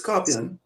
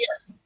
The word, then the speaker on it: Skarpyon: Well, it's Skarpyon. You know what I mean? Skarpyon. Yeah, just Okay. like, but the only difference is that you cannot put the lingo of scorpion.